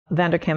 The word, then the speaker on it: Vanderkam: Vanderkam is spelled V-A-N-D-E-R-K-A-M.